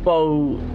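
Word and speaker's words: bough: and there's also Beau and bow as in like really as related to trees which is spelled b o u g h and then you know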